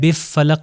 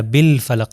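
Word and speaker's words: بالفلك: शमसी के अंदर नहीं यहां पर देखिए कुल बरबिल बिल फलक मैं बि फलक नहीं कह रहा बिल फलक लाम को अदा कर रहा हूं तो यह कौन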